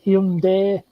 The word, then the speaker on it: Hyundai: Actually, we've been pronouncing it wrong. It's Hyundai.